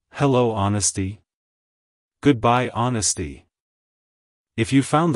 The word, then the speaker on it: Honesty: It's pronounced as honesty. Honesty. Honesty. To pronounce it correctly, emphasize the ahn sound at the beginning, followed by a short sound, and ending with stee. Like, hello honesty.